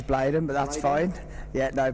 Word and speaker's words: Bladen: My name is Bladen, by the way, so we'll pronounce it as Bladen, but that's fine.